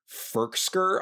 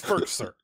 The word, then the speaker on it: Firkser: I mean, first of all, you're adding a K to his name. It's Firkser. Okay, sorry. Not Firkser. Firkser. Firkser. Pronounce it right. He didn't go to Harvard for 4 years to be called Firkser.